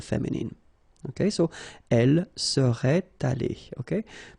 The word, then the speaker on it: allée: Okay, so elle serait allée, okay? But then phonetically it doesn't exist, all right? So it's aller here and then aller here, the way you pronounce it.